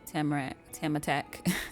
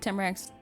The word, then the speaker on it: Tamarack: Hey, Serenity, Tamatak, and Rose. Oh. Yeah, she said Tamarack's name wrong on purpose.